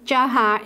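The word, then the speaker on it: Dzhokhar: I'll pronounce his name Jahar instead of Jokhar, by your leave.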